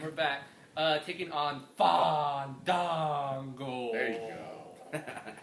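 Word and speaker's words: Fandango: we're back and we're back uh taking on fond Dango there you go say it correctly AKA Johnny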